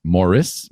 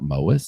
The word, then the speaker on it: Morris: course February 18th is Marin mois Morris not mois I don't know who